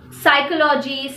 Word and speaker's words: psychology: churches the letter p the letter p is usually silent in letter combinations of pt pn and ps at the beginning of the word psychology psychiatrist pneumonia the letter r fortunately is